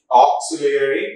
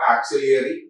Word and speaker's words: auxiliary: not a far right it has to be pronounced as fall or fall m a l l mall auxiliary auxiliary not axillary auxiliary f l a w flaw f l